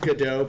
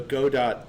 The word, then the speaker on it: Godot: It's pronounced GDAU based on the play Waiting for GDAU. Although Go dot does sound like something a tech nerd would make up.